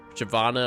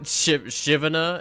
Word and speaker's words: Shyvana: And every time there was a new champion that came out, I always mispronounced it. Shyvana, for example. Shyvana, I always said Shivana until somebody told me.